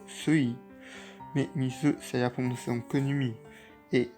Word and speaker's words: 水: milieu qui coupe et ça se prononce mise ou semi mais il se servir